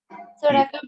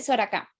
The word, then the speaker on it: Soracá: Soraka, profe, es que tengo el audio como cruzado. Ok, si pronuncié bien tu apellido, es para no seguir llamándote mal. Se dice Soraka.